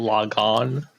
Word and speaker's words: Logan: So it's actually pronounced Logon.